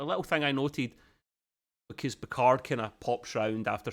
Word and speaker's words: Picard: French name everyone goes Picard it's probably not it's picar it barely pronounce the d card but it basically pronounced the D that's the way the French do it and I love that